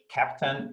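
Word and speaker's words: Keptn: the cncf slack search captain ke ptn we pronouncing captain like the captain of a ship that is written like captain so join us in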